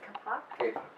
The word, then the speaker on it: kapok: So, because I had never heard of, how do you pronounce this, kapok?